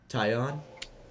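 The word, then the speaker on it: Taillon: That one Yankees pitcher, Tyon? Jameson Tyon? Tyon.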